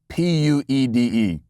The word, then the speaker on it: puede: No, she was going for yes, we can, which is si se puede, Puede. I think, in fact, the correct pronunciation is puede, I believe.